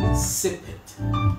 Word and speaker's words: sippet: But my word for the day is sip it. Sip it is a noun, but it's spelled SIPPET. So of course it sounds like a SIPIT, sip it, but it's spelled as SIPPET.